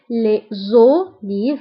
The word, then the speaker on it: les olives: فهنا قلنا les olives فنطقنا lettre Z مع انها مكتوباش دونك هنا عندي لي كتنتهي باس اللي هو كونسون و اوليف كتبدا باو اللي هي فويل دونك كنقوموا بلا ليزون فكنقولوا les olives les olives.